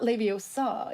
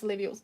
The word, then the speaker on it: Leviosa: It's not Leviosa. It's Leviosa. No, it's not Leviosa. It's Leviosa. And in Norwegian they say Leviosa. Leviosa.